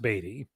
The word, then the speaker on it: Beatty: Robin year one, and we couldn't decide if it was Scott Beatty or Scott Beatty. And my co-host got a message from Scott saying it's pronounced Beatty.